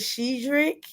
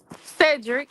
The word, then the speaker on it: Cedric: Um, we mo in support of Miss Simone on losing her father and I may say his name wrong. Is it Shedric? Cedric.